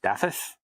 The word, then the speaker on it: Dafydd: That's Daffod, Dafydd, which I believe is actually pronounced Daffith, not Daffod.